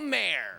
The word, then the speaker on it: Maher: welcome the wonderful Bill Maher wonderful exciting thank you it's pronounced Mar do you know that